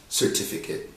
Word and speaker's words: certificate: see five times the word then should be pronounced certificate yeah so nouns that ending at as we